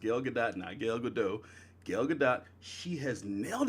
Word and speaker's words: Gal Gadot: Wayne / the Batman Gil gadot and yesterday pronounced yoga that night gal gadot gal gadot she has nailed it as Wonder